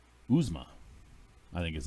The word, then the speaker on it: Uzomah: And then a surprising CJ Uzomah. Uzma, I think is how it's actually pronounced, from Cincinnati, who has been a very big target for Joe Burrow coming out of tight end.